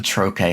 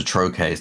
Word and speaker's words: trochee: So the difference being the iamb has the stress on the second syllable, the trochee has the stress on the first syllable.